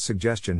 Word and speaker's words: suggestion: Phonetic Alphabet to pronounce suggestion have in mind that the size of the syllable indicates where the accent or stress is in this case the accent is in the second syllable corresponding to Jess low